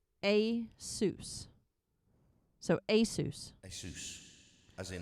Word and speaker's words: ASUS: The company claims the correct way to say its name is ASUS.